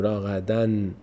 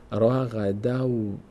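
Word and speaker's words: رغدا: تنوین تبدیل میشه دیگه اینجا نون تلفظ نمیگیم نمی‌کنیم نمیگیم راقدن به جای اون نونی که در این کلمه بود راقدن اون نون آخر تبدیل میشه به چی حرف بعدی که واو هست میشه راغدو رغ دو به جای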